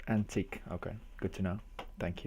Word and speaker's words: Antich: It's pronounced antique.